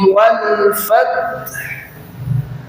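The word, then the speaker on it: والفتح: Idza jaa nasrullahi wal fath. Wal fath. Jadi t-nya disukunkan, ha-nya disukunkan.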